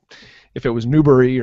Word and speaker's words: Newberry: Newberry, just like strawberry. Okay, Newberry, just how it sounds. I wonder if it was Newberry or something like that.